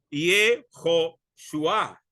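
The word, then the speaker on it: יהושע: tal es también la forma corta del nombre jehoshua cuya pronunciación es yoshua este nombre significa Dios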